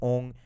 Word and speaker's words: om: was saying that um in Sanskrit any word that ends with m is pronounced as NG in Bengal okay om is pronounced as on R is pronounced as